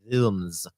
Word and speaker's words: Wilms: It was like It is a German name. It's pronounced Wilms.